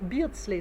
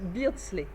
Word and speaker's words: Beardsley: au breakdance les bentley il faut que je pense à dire beasley ça se prononce beardsley aubrey beardsley est convaincu